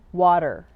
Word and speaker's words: water: Now I said water because I'm an American. I pronounce the T as a D, water, and then a very strong R, water.